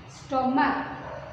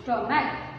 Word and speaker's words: stomach: Next, stomach, stomach, S-T-O-M-A-C-H, stomach. Next, see, once again I pronounce like okay, I missed S-T-O-M-A-C-H. Here C-H sound like K, okay, S-T-O-M-A-C-H, stomach.